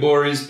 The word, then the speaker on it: Gborie: move on to david bourie's picks the g is silent on twitter are you